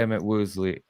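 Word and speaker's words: Emit Woosley: Emmett Woosley. Emmett Woosley, but it's spelled like Emmett. It's EMIT. M-I-T. EMIT. W-O-O. WOOSLEY.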